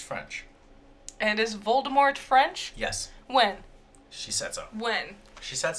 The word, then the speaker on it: Voldemort: have kept Voldemort alive Voldemort Voldemort no the t is silent no it has never been silent okay let's play this